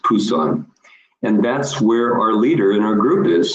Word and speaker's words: Busan: on the bottom right you see Busan actually pronounced Pusan and that's where our